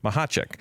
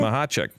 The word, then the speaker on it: Machacek: It's Machacek. Ooh. Did I say it right? Yes, you did. Machacek.